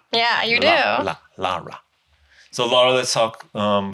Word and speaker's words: Lara: but I said Lara you have to pronounce the a yeah you do Lara so Lara let's talk